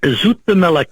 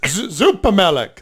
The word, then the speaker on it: Zoepemelk: Zoepemelk. Zoepemelk.